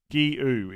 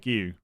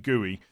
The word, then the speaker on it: Guiu: It's Guiu. Guiu is how you say it. Guiu. Something like that, anyway. It's more Guiu than Gooey.